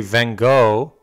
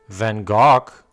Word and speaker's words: Van Gogh: is famous enough to be known under different pronunciations it doesn't really matter if we say Van Gogh Van Gogh or van Hoge most people will know who you're talking about